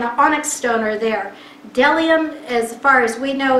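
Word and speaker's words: bdellium: the and you say it looks like a b but you don't pronounce the b the delia and the onyx stone are there dellium as far as we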